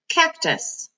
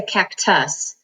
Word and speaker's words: cactus: This one is k, ak, cac, t, us, tus, cactus. Now we don't say cactus, we say cactus. So this syllable, usually the first syllable in a word will have all the accent.